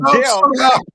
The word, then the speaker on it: depth: Depth. DEPTH, depth. That's how it's pronounced. It's not depth. That ain't how you pronounce it. It's not like you got an F in there somewhere, man.